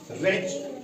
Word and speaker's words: wretch: उसके बाद WRETCH, रेच, इसको टी साइलेंट यहां रहता है क्योंकि CH से पहले टी आ रहा है।